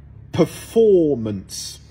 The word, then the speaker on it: performance: s'enmêent souvent les pinceaux performance donc là j'accientue que le for perform preparation donc là